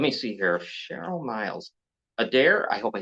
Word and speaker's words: Adair: right there let me see here Cheryl miles Adair I hope I said his name right that'd be right Adair a d a i r yeah right if